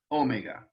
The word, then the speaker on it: omega: of the greek alphabet omega with the accent on the first syllable omega the long o sound so let's put um